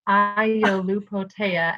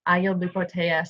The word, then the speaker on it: Iolupotea: So if you look at my last name, it's got every single vowel. It's Iolupotea, and you pronounce every single vowel.